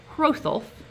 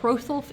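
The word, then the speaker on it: Hrothulf: hgar and his nephew holf we've not um we haven't seen that name yet but holf is spelled HR o th h u LF and it's going to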